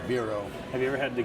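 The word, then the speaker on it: Bero: And another good one is Biro. Is what? B-E-R-O. B-E-R-O. Never heard I of guess it's pronounced Biro.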